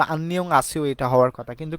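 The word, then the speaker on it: 안녕하세요: অস্তিত্ব থাকে না তো আন্নিয়ং হাসিও এটা হওয়ার কথা কিন্তু কোরিয়ানরা না এটাকে হাসিও বলে থাকে ডিফারেন্ট উচ্চারণ করে থাকে তাহলে আন্নিয়ং হাসিও কেমন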